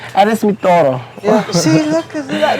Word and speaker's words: Eres mi todo: Eres mi todo.